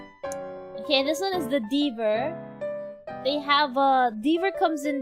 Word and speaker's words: Deaver: heard of the Deaver, I thought it was beaver at first, like the animal beaver, like how you spell it. Until I realized, wait, it's not beaver, it's Deaver.